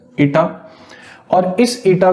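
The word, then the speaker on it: eta: constant टा that symbol it's a Greek letter it is pronounced as ईटा और इस ईटा को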